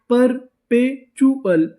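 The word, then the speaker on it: perpetual: पी ई आर पर पी ई पे टी यू एल। इसे क्या पढ़ते थे? चुअल। तो पूरी मीनिंग परपचुअल परपेचुअल। परपेचुअल।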